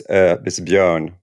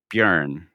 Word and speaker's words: Björn: The thing is, it's a Swedish letter, so it's Björn, like learn. Björn.